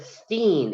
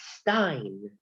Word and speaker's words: Stein: it's spelled Stein. It's kind of like from my cousin Vizzy. She's my cousin Vinny. She said Steen. It's Stein.